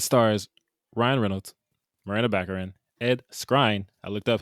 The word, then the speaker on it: Skrein: Anyway, it stars Ryan Reynolds, Miranda Baccarin, Ed Skrein.